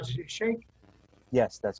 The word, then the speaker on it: Sheikh: us a little bit about who is Salman Sheikh? And I hope I'm pronouncing your last name right. Is it Sheikh?